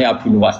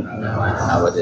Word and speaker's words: Abu Nuwas: Jadi asli ejaane Abu Nuwas, tapi ning Jawa dadi Abu sinten? Nawas.